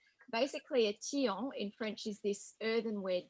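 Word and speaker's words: tian: provincial vegetables or you call it a teong which is spelt t i a n basically a tiong in french is this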